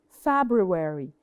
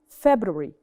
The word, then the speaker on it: February: So it is the same. We have 2 different pronunciations. عندي the American pronunciation and the British pronunciation. So Americans usually say it longer. So February, February, they say it longer. But the British, February, February.